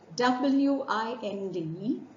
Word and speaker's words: wind: had the same word w-i-n-d spelled the same but pronounced differently w-i-n-d as a noun when it refers to Breeze is pronounced wind rhyming with dimmed but when it refers